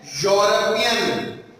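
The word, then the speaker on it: European: इसका vowel sound है, लेकिन इसका प्रोनाउंसिएशन है यूरोपियन। यूरोपियन तो यूरोपियन जो इसका स्टार्टिंग साउंड वॉवल साउंड नहीं है बल्कि कॉन्सोनेंट साउंड है।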